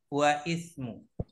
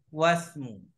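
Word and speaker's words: واسمُ: kasro kemudian wasmu wasmu perhatikan membacanya bukan wa Ismu tapi membacanya adalah wasmu Kenapa karena ini adalah Hamzah wasl kalau di depan dibaca is is is di tengah tidak dibaca wasmu karena dia Hamzah was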